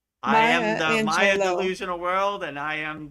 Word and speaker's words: Maya Angelou: Well, my last quote, before I say it, Sandy has been so kind to phonetically pronounce it for us. Maya Angelou.